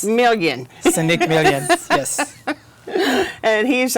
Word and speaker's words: Milien: Today, we are talking about Reid Health Hospitalist, and our guests today are Cherie Frame, nurse practitioner, and Seneque Milien. Help me pronounce this again. It's Milien.